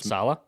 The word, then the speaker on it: Saleh: Robert Saleh. Salah. I always mispronounce his name.